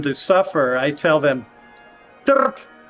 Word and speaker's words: trp: If I'm really angry at somebody and I want them to suffer, I tell them, trp. It's spelled TRP. Trp. Trp. And it's usually pronounced about like that, fairly short.